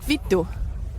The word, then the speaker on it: vittu: Vittu, it's this V-I-T-T-U, vittu. If you say that on stage, vittu, perfect pronunciation. Vittu.